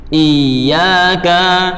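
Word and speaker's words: إِيَّاكَ: Yang benar, kaf dibaca pendek, dalnya juga dibaca pendek.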